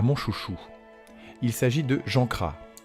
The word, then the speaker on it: Jean Cras: chouchou il s'agit de jean gras ou si on le prononce à la bretonne jean cras alors était-il d'abord officier